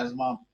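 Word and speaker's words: asthma: तो ये जो सांस की बीमारियां, जैसे नम, ये आपका अस्थमा और ये सब चीजें जो हैं, अस्थमा हो गया आपका, एजमा वैसे तो उसकी करेक्ट प्रोनाउंसिएशन, या ये आपके निमोनिया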